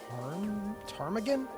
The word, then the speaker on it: ptarmigan: Ptarmigan? Am I pronouncing that right? That bird? A ptarmigan? They sound like droids? Alright. Hold on. Silent, do you like pterodactyl?